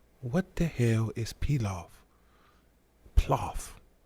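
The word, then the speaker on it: plov: the hell is pilaf ploth how do you say it you pronounce it like golf but the before the o p-l-o-f anyway it's a russian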